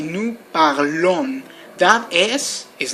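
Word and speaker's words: parlons: else with new you have to say new parlon that is is not pronounced only the O and the N no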